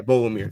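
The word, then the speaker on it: Beaux: I don't know if you pronounce the X at the end of his name. I don't think you do. Oh no, Bolomir. Yeah, Bo Limmer.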